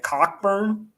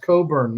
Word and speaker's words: Cockburn: freshman year i was like this dude's named cockburn yeah like you're getting new jersey yeah it's pronounced coburn i'm just like so boring i have one